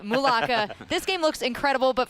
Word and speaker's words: Mulaka: Mulaka.